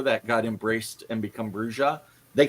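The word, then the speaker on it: Brujah: guides in them, and they say point blank it's pronounced Bruja.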